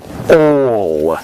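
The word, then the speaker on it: -ol: Now they have the suffix OL, or OL is how you say it.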